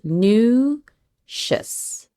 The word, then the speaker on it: nutritious: Make sure that you have that oo sound. Nutritious. That TR sound is going to be a tr, almost sounds like a CH.